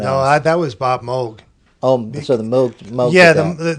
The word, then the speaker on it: Moog: So now going back to Bob Moog, is it Moog? That's how you pronounce it? Technically it's Moog, but everyone says Moog.